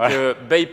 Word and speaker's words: BAPE: covering BAP qui était il faut faire très attention à la prononciation de la marque c'est une marque de vêtements japonaise parce qu'on nous a repris nous on n'est pas des fashion donc BAPE je pas faire le